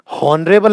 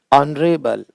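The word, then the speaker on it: honourable: होता है एयर का वैसा होता है इसका उच्चारण है एयर। होनर नहीं, ओना, ओ। हॉनरेबल नहीं, ऑनरेबल, ऑन।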